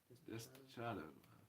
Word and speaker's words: Desdichado: Desdichado. That's how you pronounce it.